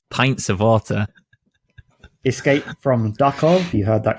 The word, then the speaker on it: Duckov: Escape from Duckov. You heard that correct. I have not mispronounced Tarkov, like I may have mispronounced something earlier.